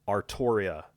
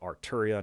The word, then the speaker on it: Artoria: state knight's saber-class servant artoria pendragon not arturia not arthuria not whatever other weird pronunciation is out there ar toria pendragon and now that that